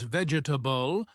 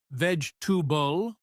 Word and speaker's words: vegetable: Oh, and pronunciation mistakes, like saying vegetable as vegetable with all syllables when it's actually pronounced more like vegetable, only two clear sounds.